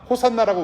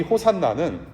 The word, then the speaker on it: 호산나: 이게 호산나, 이 호산나는 히브리어로 오시아나라는 말입니다. 그것을 헬라어로 호산나라고 표현하는 거예요. 그런데 헬라어나 이 히브리어는 사실은 호 발음이 아니에요. 이게 오 발음을, 바람을 강하게 이렇게 내뱉어서 뱉는 이 단어거든요.